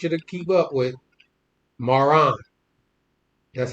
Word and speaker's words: Maran: Maran. That's how I pronounce it. Maran.